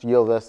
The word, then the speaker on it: Ylvis: Most notably, the popular Ylvis, it's pronounced Ylvis, I looked it up, I'm that thorough, song called What Does the Fox Say?